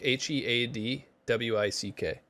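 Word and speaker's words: Headwick: r u yeah shukan okay last name hewick h e a d wi c k head Wick all right and of course we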